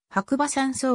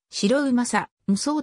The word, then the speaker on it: 白馬山荘: 村と同様に白馬山荘が正式な読みとなっており白うまさ無双と読むのは誤りであるなお株式會社白馬